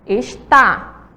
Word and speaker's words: está: Então vamos lá, e está? Qual é a sílaba mais forte? Está, a segunda, está acentuada, certo? E a segunda aí que temos é esta, esta. A primeira sílaba é a mais forte.